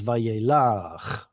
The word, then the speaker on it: Vayelach: All right, that this is in pausal form instead of being Vayelech. Pausal form pulls the stress to that last syllable and it becomes Vayelach. And all right, questions on the introductory verse.